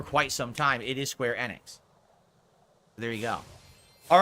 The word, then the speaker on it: Square Enix: And then a few years ago, during one of the big press conferences, they said Enix about 7,000 times themselves. And I realized it's pronounced Enix, not Enix.